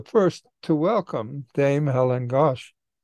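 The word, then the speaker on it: Ghosh: to welcome Dame Helen gosh or ghost as it's sometimes pronounced as the new Master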